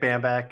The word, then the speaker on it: Bambach: My name's Bambach.